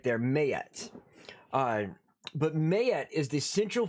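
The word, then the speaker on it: Maat: We got gods like Mayet, which is, let me see if I can show you how it's spelt, but it's pronounced Mayet. Right there, Mayet.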